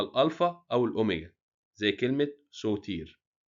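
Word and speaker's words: ⲥⲱⲧⲏⲣ: هو السيد المسيح بخرستوس لو جه بعده حرف تضخيم اللي هما الالفا او الاوميجا بننطق صد يعني بنديله هبه كده زي كلمه ايه سوتير سوتير اللي هو مخلص كلمه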